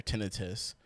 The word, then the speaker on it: tinnitus: diarrhea or tinnitus tinnitus apparently that is how you say tinnitus by the way or tinnitus do you want 4k do